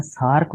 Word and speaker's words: SAARC: लेकिन अगर इसको मैं सार्क बोलता हूँ तो ये क्या है? ये एक्रोनाइम है। यानी एब्रीविएशन का भी अगर हम एक वर्ड बना लें, उसको प्रोनाउंस इस तरह से करें कि वो लगे कि ये एक वर्ड है, तो उसको एक्रोनाइम कहा जाता है।